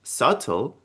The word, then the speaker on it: subtle: И обращаю ваше внимание, что в этом слове мы с вами буквочку «б» не произносим. Да, когда у нас идет «б» и «т», то «б» не произносится.